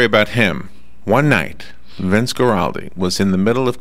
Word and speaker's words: Guaraldi: And finally, Vince Guaraldi.